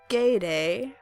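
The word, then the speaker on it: Gaudet: Say that you believe in magic and accept her help, rather than Geets, which I now know, by the way, is pronounced Gayday, unless I got that wrong again.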